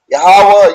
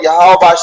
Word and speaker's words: Yahweh: the most high god yahweh yahweh that's how we pronounce the most high name in the pale hebrew that doesn't mean god